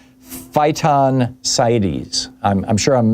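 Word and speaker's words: phytoncides: Another fascinating aspect of forish exposure is uh something called phyon sites. I'm I'm sure I'm mispronouncing it.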